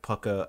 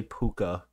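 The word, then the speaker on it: Púca: called that no no we pronounce pucker correctly is what we're actually doing we're pronouncing it correctly I know people say puka but yeah it's Pucker or at least I say it's pucker there are several pronunciations and I think that they're all valid I know I'm just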